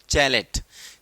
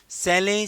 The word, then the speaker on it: chalet: लिखा है CHALET, okay, इसे आप ये मत पढ़ना कहीं आप इसे पढ़ें चैलेट। चैलेट, इट्स नॉट अ चैलेट। The correct pronunciation of the word सैले, सैले, सैले, इसको सैले पढ़ते हैं।